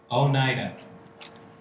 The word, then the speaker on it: Oneida: How do we pronounce it? Oneida.